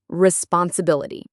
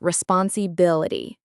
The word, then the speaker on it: responsibility: Here is a trick. Put the stress on the bil. Responsibility.